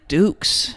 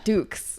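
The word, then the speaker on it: Dux: plays Frank Doo do right that's how you pronounce it right Frank Dukes Dukes that's right I was like dude you sound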